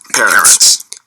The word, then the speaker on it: Peretz: This is a running debate that I actually have with Marty Peretz, although I'm now told it's pronounced Peretz.